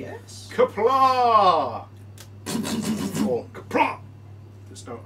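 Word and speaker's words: Qapla': Kapla! Or kapla! There's no R, it's an ah. I did see a Klingon video and they said, don't say kapla, because that's wrong. It's kapla.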